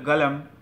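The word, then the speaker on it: قلم: এই সমস্ত লোকেরা দেখা যায় কাফটাকে আলিফের মতো উচ্চারণ করে। যেমন কলম, কলমটাকে, কলম হচ্ছে আমরা শুদ্ধভাবে বলে কলম হয়, সৌদিরা বলে গলম, গলম, এটা গাইন, গাইনের মতো উচ্চারণ করে, গয়ের মতো উচ্চারণ করে।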